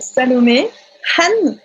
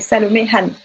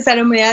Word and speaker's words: Salomé Han: Alors, déjà, je m'appelle Salomé Han. Donc, on va prononcer le H.